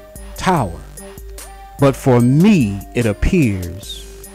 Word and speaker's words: TOWÄR: title of this video it's pronounced Tower but for me it